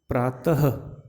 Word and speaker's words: प्रातः: जैसे मैं बोलता हूँ प्रातः, तो ह, त के बाद में किसका उच्चारण आ रहा है?